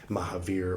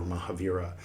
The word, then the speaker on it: Mahavira: that's also where um Mahavir or Mahaviraa if you pronounce the A usually they don't pronounce the A at the ends of things here um of Sanskrit uh things here.